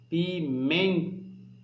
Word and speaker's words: pimenta: pimenta o presta atenção pimenta veja que um man sai com mais força ok portanto man é assim tá mais forte e a sílaba pronunciada com maior intensidade e portanto é a sílaba tônica correta desta palavra certo sílaba tônica de pimenta